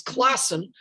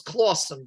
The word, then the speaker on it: Clawson Point: point of Clawson Point, which some people might mispronounce as Classen, but I read it and Forgotten New York agrees with me that this was Clawson.